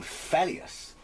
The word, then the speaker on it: Phelios: look at this game felius at least i think that's how you pronounce it that's how i've always pronounced it it's uh running on